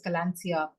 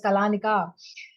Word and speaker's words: Kalaneca: In fact we had so many people pronounce it as Colansia. Hello am I speaking to Rama from Kalansia and we were like oh no it's Kalanika.